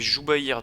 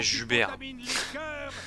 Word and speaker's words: Joubaïr: Ok c'est Joubaïr du coup que ça se prononce. Pas Jubert. C'est vrai que Jubert c'est pas terrible.